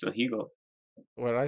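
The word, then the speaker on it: ahegao: No, I think Didi doesn't want to talk about anime and the Hagao face.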